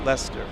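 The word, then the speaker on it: Leicester: of in the UK it's pronounced Lester Lester like Lester from Lester Holt like then here's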